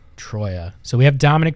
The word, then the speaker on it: Troia: Dominic, and how do we pronounce the last name? Because I am really bad at last names. Troia. So we have Dominic Troia here, who is the president of operations of Oakland County Football Club.